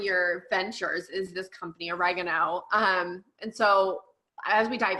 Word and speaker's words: Organo: I did it for the longest time. Organo? And Organo, but then even sometimes I was calling it Organo. I'm like origami. I think origami, Organo. So I believe it's pronounced Organo. I think Organo. What did I say? Oregano, like the Oregano, yes.